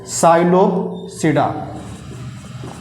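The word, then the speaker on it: Psilopsida: बता दिए ठीक है इसको देखो साइलोप्स सीडा को पी से पी इसमें साइलेंट है ठीक है साइलोप सीडा दूसरा क्या होगा इसमें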